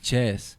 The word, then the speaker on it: Chess: I always say this nigga name wrong. Chess. Yeah. I was gonna say Chase, bro. I'm not gonna say that. Yeah, Chase. But Chess, bro.